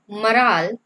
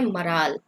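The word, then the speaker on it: morale: तो देखिए क्वेश्चन क्या कहता है, मराल द मराल ऑफ the army. Okay, इसको हम प्रोनाउंस करते हैं मराल, नॉट मोराल। ओके। ये जो होता है ना MORAL, ये होता है मॉरल, लेकिन ये होता है मराल।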